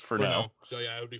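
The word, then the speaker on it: Furneaux: Noir for now Lodge it's it's that like Cajun type spelling it's f-u-r-n-e-a-u-x that's usually pronounced oh no so it's for now so yeah I would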